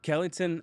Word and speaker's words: Kellyton: Kellyton, Alabama.